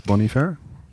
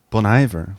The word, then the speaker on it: Bon Iver: kind of Bon IA Bon Iver wow okay cool because they're like oh bon no it's not French there's not an H in front of it yeah